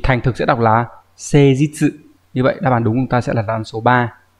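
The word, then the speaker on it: 誠実: Thì thành thực sẽ đọc là seijitsu.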